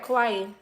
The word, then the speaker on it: Kauai: Kauai.